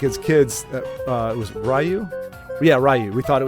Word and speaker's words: Ryu: used to think as kids that it was Ryu. Yeah, Ryu. We thought it was Ryu, R-Y-U. The guy from Street Fighter. Hadouken! Thought it was Ryu, but it's apparently Ryu, which doesn't look or sound right to me,